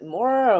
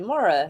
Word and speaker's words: Maura: shop and he's like is your name pronounced like mora or moira and i was like maura and i i kind